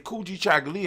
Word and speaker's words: Kujichagulia: And self-determination, Kujichagulia, when you say it properly, Kujichagulia, and just let it ring, it rings with that African tone.